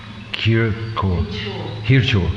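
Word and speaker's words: Khir Chor: And in Bengal we pronounce it Kirchor.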